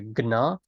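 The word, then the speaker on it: જ્ઞ: This letter here is kind of like a G and an N together. It's like a gna, gna, gna, gna. Some people, there are a couple of variants of how you might pronounce this, but let's just stick with the one I said today, kind of like a g and a na stuck together.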